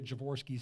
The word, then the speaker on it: Javorsky: in the lincoln wilbur there that's where the javorski's sort of come from the wilbur creed lincoln air and you have pronounced the name correctly and folks he didn't